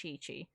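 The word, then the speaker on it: Qiqi: __ ] of course you are yeah it's pronounced chi-chi it's funny because people were like making comments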